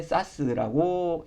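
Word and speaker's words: SaaS: 여기 이제 IaaS라고 적혀 있는데 이걸 이제 보통 이아스라고 읽고 그 다음에 파스, 그 다음에 사스라고 읽습니다.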